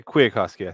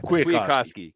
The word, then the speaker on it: Kwiatkowski: Yeah, Kwiatkowski. Kwiatkowski, cool.